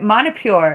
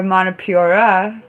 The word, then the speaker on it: Manipura: So anyway, Manipur is actually called Manipur, Manipuri, or Manipura, whichever one you like.